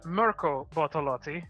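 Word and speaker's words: Mirko Bortolotti: upset the applecart a bit yeah the aforementioned Merkel bortolotti there I said it right this time in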